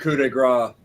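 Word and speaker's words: coup de grâce: it is yeah it's the could it's considered coup de grace is what they call it the kuda grace album everybody always pronounces it wrong oh trust me i would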